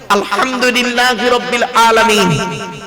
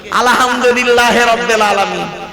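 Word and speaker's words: ٱلْحَمْدُ لِلَّٰهِ رَبِّ ٱلْعَالَمِينَ: আলহামদুলিল্লাহ সূরা পড়েন তো আলহামদুলিল্লাহি রাব্বিল আলামিন আলহামদু এই গলার ভেতর থেকে হেটা উচ্চারণ করুন হায় উতি হায় হাফজ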